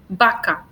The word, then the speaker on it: vaca: we just pronounce beso, vaca. But in some countries, they do, and they pronounce this as a labiodental.